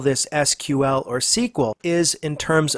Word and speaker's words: SQL: English query language and was in point of fact pronounced SQL now personally I don't care whether you call SQL SQL or SQL you'll find some fairly